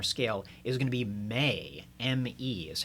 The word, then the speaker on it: me: the G minor scale, is going to be may, M-E is how you would spell it out.